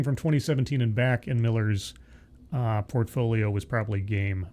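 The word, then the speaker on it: Millar: familiar with Mark Miller, and he it's just pronounced Miller. Uh it's spelled Mar and everybody says Mar, but it's pronounced Miller.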